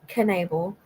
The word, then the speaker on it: Knable: me expand this here Andrea Michelle Canal pronounced Canal was a 37y old